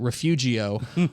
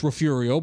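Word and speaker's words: Refugio: Uh, and it's the Rafiurio Bobcats, but it's with a G. And so I pronounce it refugeio on the air to a statewide audience.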